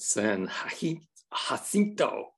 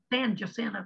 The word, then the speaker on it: San Jacinto: Is that the right pronunciation? Yes, you know, I practiced and practiced that, and when I got to Texas, they pronounced San Jacinto College. Okay, San Jacinto.